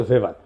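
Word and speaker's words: Weber: দার্শনিক আছে ম্যাক্স ভেভার এটা ওয়েভার বলে অনেকে এটা উচ্চারণ আসলে ভেভার তার একটা লেজিটিমেসি এবং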